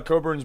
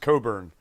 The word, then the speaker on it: Cockburn: Second, he said his original last name spelling is Cockburn, but was originally pronounced Coburn. So they got rid of the C and the K so that it wouldn't look like cock. But it was always pronounced Coburn.